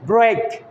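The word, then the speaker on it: break: ব্রেক আমরা বলি ভেঙে ফেলা কোনো কিছু, বি আর ই আই কে, দেখেন এখানে কিন্তু উচ্চারণ হচ্ছে ব্রেক, অর্থাৎ ই এ থাকলে লং এর মতো।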